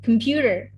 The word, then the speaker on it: computer: So the example for the first syllable, the first stress on the first syllable stress is on camera, and the second syllable stress is on computer.